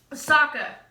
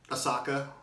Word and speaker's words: Sokka: Sokka. Asaka.